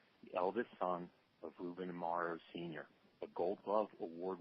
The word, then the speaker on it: Amaro: family Santos Amaro and I am pronouncing your last name correctly am I not tomorrow yes it is Amaro okay had it not